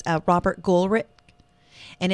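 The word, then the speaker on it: Goolrick: favorite book is called uh it's a Robert gulrich and it's spelled g-o-o-l-r-i-c-k so he's only had a couple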